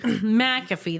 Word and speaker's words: McAfee: McAfee. That's how you say it. Not McAfee.